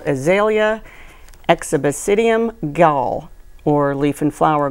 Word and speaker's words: Exobasidium: It's called Azalea exhibicidium gall, or leaf and flower gall. It is, I'm supposed to spell that, E-X-O-B-A-S-I-D-I-U-M, exhibicidium.